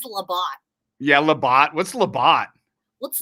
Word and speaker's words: LeBeau: It's spelled like bow, like B-E-A-U, but it's really, it looked like, did you hear what I said earlier? What is Labat?